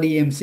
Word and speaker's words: DMZ: DMZ จ ะ อ่ า น ว่ า DMC DMZ ก็ ไ ด้ DMC DMZ ก็ คื อ